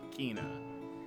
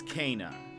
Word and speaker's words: Kena: was saying it wrong I was saying it Keena but it's Cana um so uh we're